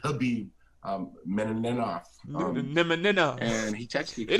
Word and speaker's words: Khabib: There's fighters like Johnny Bones Jones, Conor McGregor, uh was it I keep saying Kabib, but it's actually Khabib Menov.